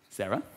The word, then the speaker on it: Sarah: Like Sarah with an H or Sarah without an H. Sarah without an H is pronounced like this. Sarah.